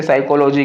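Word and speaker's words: psychology: Silent letters जो होते हैं, जैसे साइकोलॉजी कहा, साइकोलॉजी में PSY से शुरू हो जाता है, तो ये जो P जो है वो साइलेंट आ गया।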